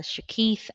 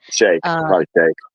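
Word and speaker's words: Sheikh: Uh he echoes what you just said about Hamas was founded by uh Shak uh Shak or Shikhaf I don't know how to pronounce it. Shake.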